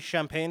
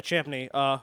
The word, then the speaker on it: Champney: Reverend Henry the rst Champaign II I probably butcher that uh I think it's chimney Japanese yeah Champney whom Crowley considered a